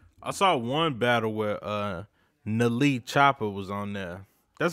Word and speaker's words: NLE: No, it's acronym. It's NLE. Nali. Okay. Man? Y'all niggas acting old. Is it Nali Man, Chopper?